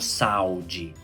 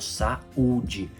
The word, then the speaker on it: saúde: eo estamos sílaba separada não falo saude eu falo saúde mas eu não falo